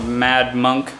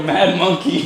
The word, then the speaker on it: Mad Monkey: at is called the Mad Monk Hostel, and they have a pool. Shit, as I said it, I knew I said it wrong. The place we're staying at is called the Mad Monkey.